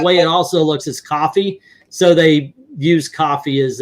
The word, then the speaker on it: Ko-fi: It's actually supposed to be coffee, but I said it wrong a long time. I thought it was Ko-Fi because the way it's written, it says Ko-Fi, It's supposed to be like co-finance, but Yeah.